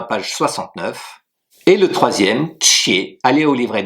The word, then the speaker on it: 且: Le troisième caractère que nous allons apprendre, c'est qie, Q-I-E, troisième ton qui s'écrit de la manière suivante.